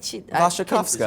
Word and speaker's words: Wasikowska: I still don't know how to say her name. Vasha, I took this job to learn how to say her name, and when I asked her, she was like, "I don't know." Right? Vashakovska. What do you Is say? is that correct? Yes.